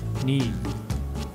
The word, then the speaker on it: knee: When K is with N in the beginning, it is silent.